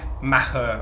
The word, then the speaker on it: Maher: the actual pronunciation but I think it's Irish so I think it should be like Maha or something so when people say